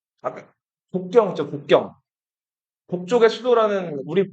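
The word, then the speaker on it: 北京: 예를 들면은 뭐, 아까 북경 있죠, 북경. 북쪽의 수도라는 우리 번역하면 그냥 북경인데 그 북경을 중국 사람들은 베이징 이렇게 읽는다고.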